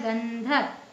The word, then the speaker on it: गंधक: है दूसरा अक्षर देखेंगे ध ध कौन से वर्ग का है त वर्ग का तो त वर्ग का पांचवा वर्ण क्या है न तो इसमें न का उच्चारण निकल रहा है गंधक ठीक है खंबा ये